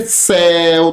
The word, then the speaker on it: céu: Porque céu tem acento, ó. É uma monossílaba, termina em que? El. Olha aqui, terminou em el, recebe acento. Agora, por que essa palavra aqui, monstros, olha? Seu, não tem acento. Porque termina em el, é monossílaba, mas é fechado o som. Tem que ser aberto. A boca vai escancarada.